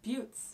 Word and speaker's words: buttes: It's pronounced buttes. Oh, buttes.